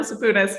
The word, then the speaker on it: Sapounas: we're here today joined by the amazing saponas right am i pronouncing that correctly you're so close yeah oh yeah 100 saponis you got it you're just a bonus i